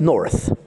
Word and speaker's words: North: Voici Galère d'humoriste avec aujourd'hui North. Ah, c'est comme ça, je le prononce à l'anglaise? À l'anglaise, ça passe mieux comme ça.